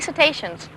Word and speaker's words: cetaceans: And since then, the parks have had over 150 successful marine mammal births, which includes 50 cetaceans. Is that spelled like railroad stations?